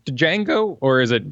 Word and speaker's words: Django: it do you say Django or is it django django the D is silent okay I think that's